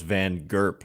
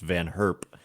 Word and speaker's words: Van Herp: I always thought it was Van Gerp, but it's, I think, pronounced Van Herp.